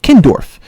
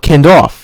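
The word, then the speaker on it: Kindorf: of what it's called it's what it's called kin Dorf some guys call it Ken doll they spell it wrong and the supply house or what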